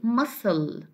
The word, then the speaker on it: muscle: In combination with S, we have to pronounce this combination, okay, as S.